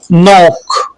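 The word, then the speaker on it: knock: एन से पहले आने वाला के साइलेंट होता है, जैसे नॉक, नो, नाइफ, नॉलेज।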